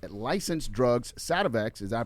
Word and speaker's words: Sativex: its homegrown cannabis going into its licensed drugs, Sativex. Is I pronouncing that right, Mike? Yeah. Sativex, and epilepsy drug, Epidiolex.